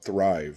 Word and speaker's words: Thryv: So other than the normal digital marketing that'll go through the company that I'm going through, and the company is called Thrive, and it's spelled Thryv.